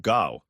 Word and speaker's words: Gough: In the 70s, we had a prime minister called Gow, pronounced Gough Whitlam.